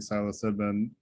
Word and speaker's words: psilocybin: I did post an article that refers to studies on microdosing psilocybin. I can't pronounce it.